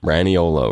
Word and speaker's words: Raniolo: Vinny Raniolo. Raniolo, right. That's how you pronounce that.